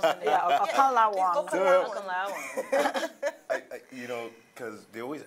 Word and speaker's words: Okanlawon: Adeyemi Okanlawon.